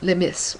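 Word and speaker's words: le meas: words any of them well there's LI or so I'm told which is spelled l e m a and it's what I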